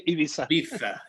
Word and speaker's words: Ibiza: offices in madrid ibiza i don't think they pronounced that z i think it's like a th we say ibiza yeah i heard that